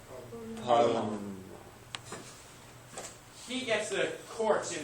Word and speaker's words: Parlement: Generally in French, how do you pronounce it? Just don't say the last letter. Parlement.